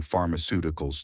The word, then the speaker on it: pharmaceuticals: You may realize that for words ending in ical, the stress normally falls on the syllable before ical, i.e., the third to last syllable in the word.